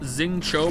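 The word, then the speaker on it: Xingqiu: Xingqi is pronounced Xing Cho, by the way.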